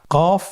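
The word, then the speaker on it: قاف: কফ উচ্চারণের ক্ষেত্রে একটু মোটা করে উচ্চারণ করতে হবে।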